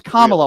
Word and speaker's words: Kamala: It's Kamala. Why don't you learn how to spell? Why don't you learn how to pronounce her name right?